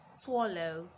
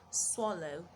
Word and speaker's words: swallow: And the last one, swallow, swallow. Now there are several words spelled with the letter A making the sound O, but you will hold on to this one till I meet you another time.